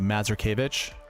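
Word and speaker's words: Mazurkiewicz: That's the Polish way. The Mazurkevich.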